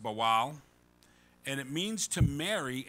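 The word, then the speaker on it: בעל: marriage in the hebrew is bowel b-a-w-a-l it's pronounced bowal and it means to marry as well as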